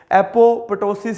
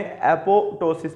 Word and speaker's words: apoptosis: भी पढ़ सकते हैं, एपोप्टोसिस भी पढ़ सकते हैं, ठीक है। लेकिन मोस्ट ऑफ द टाइम जो हमने पढ़ा था तो हमारे सर ने तो हमें एपोटोसिस पढ़ाया था, वो एक पी को साइलेंट पढ़ाते थे, ठीक है।